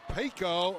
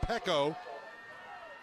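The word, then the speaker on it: Peko: making the great play was uh pico so paco it's actually pronounced pekko domatai pekko with a phenomenal defensive effort and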